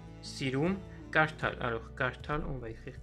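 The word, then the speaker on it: կարդալ: Voilà, CH, on prononce comme en anglais, ch. Kitsch M. Sirum. Kartal.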